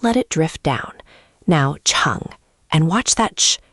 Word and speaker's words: chǎng: Second, chang, is tone 3, the dip.